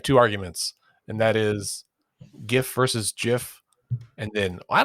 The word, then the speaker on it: GIF: It's GIF. Andy maintains that it's GIF, not GIF. Oh, Andy and the creator of the file format. Wait a minute now. GIF. Right. Like giraffe.